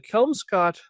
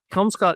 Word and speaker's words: Kelmscott: Uh, you know originally was this like early printing press or this was I don't know the Kelm Scott Chaucer is Oh, let me see if it says on here.